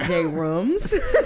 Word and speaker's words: Jrumz: But just pronounce it how it looks. Like the J and the R go together like a D and the R. You know what I mean? It's the same sound.